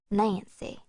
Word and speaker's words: NC: A person with no class, pronounced Nancy.